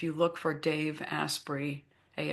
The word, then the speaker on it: Asprey: No, I think it's it's Aspy. I think he pronounces it Asprey.